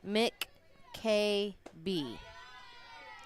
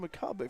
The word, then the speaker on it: McCabe: Pitcher is pronounced McKB. Okay, I was not told that by the coach. McKB. McKayB. KB, okay. McKayB. I was told Macabre from the coach, but okay, make a note of that.